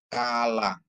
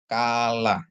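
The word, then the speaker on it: כַּלָּה: dages dia kaha ya Kaf ditambah F lamet ditambah kamat tambah he jadi bacanya kalah yang artinya mempelai perempuan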